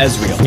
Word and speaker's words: Ezreal: 그리고 아트록스를 북미권에서는 에이트록스라고 부르듯이 이즈리얼도 영미권에서는 에즈리얼이라고 부르죠. 원문 발음도 원래는 에즈리얼입니다. Featuring Ezreal.